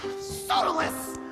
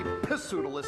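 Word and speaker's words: Pseudolus: Sautilus. Pronounced perfectly. You know, a lot of people say poodilus, and I really hate that.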